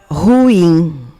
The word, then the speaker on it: ruim: as coisas estão ruins ela é de silábica então já sabe no momento que você tornou monossílaba você mudou a força da palavra mudou a pronúncia da